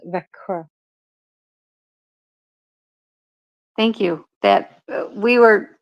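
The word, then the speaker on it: Växjö: it it's very hard for foreigners but it's pronounced VRA thank you that we were in that City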